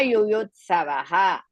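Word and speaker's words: युयुत्सवः: Yuyutsavaha. You. That is Hrisva. Ta and Sa together, Yuyut Savaha. First you should pronounce, then Savaha. Why I am saying Savaha? Because after the continuous of this sentence, the end of the sentence, we have the Visarga, we have to pronounce that part.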